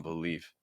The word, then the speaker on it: believe: very, very heavy on believe. I really can't believe Kansas City. Believe Kansas, like believe is so fast. Okay. Believe. So it's a schwa sound followed by an e sound. E. Believe.